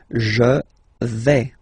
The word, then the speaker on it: vais: Okay, so remember, final S not pronounced here. Je vais. Okay, when you combine this AI, you get the sound E, really open.